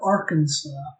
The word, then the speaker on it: Arkansas: next up we have arkansas i'm going to put this indeed here just because there's a kansas and this isn't pronounced kansas and that's kind of cringe